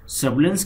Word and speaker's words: surveillance: Recognitions का सर्वेलेंस के spelling में SURVEI को सर्वे पढ़ रहे हैं, सर्वेलेंस, SURVEI, आई को साइलेंट रखा जा रहा है, ध्यान रखना है. उच्चारण में सर्वे पढ़ रहे हैं, आई को नहीं बोल रहे हैं, तो आई स्पेलिंग में रहेगा.